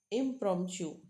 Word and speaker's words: impromptu: Now, impromptu. Here you just have to remember this word. Chew. Tu is pronounced as chew, and meaning is impromptu is extempore or spontaneous without preparation is called impromptu.